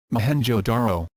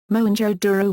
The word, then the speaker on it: Mohenjo-daro: Mohenjo-daro. Mohenjo-daro, lit. Mound of the Dead. English pronunciation, /moʊ-hɛn.dʒoʊ, /roʊ/, is an archaeological site in the province of Sindh, Pakistan.